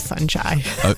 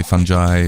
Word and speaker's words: fungi: the correct pronunciation of funi oh you you can say it how you like people people take that pick I say funy other people say fungi fungi funi fungi so you